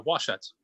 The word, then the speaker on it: Washut: how do i say your last name uh washuts oh okay good i'm saying it right so